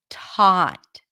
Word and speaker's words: taught: taught notice that when we pronounce the T at the beginning of a word at before a vowel then the T is aspirated so it feels like there is a little H right after T taught T can you hear it t we don't have that in thought here the t is just one freet of sound okay what about